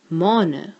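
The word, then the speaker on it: mane: In plural, it will now be maane, which is spelled only with one A, but still pronounced as a long vowel sound, with an E added at the back.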